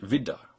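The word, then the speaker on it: Widder: a compound or not this word for instance is pronounced vidda with just a D sound d uh because it's not a compound and those Double D's right in the middle are pronounced normally they're voiced recognizing whether you're looking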